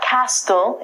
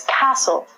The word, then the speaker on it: castle: of people say Castille it's not Castille it's castle a castle is a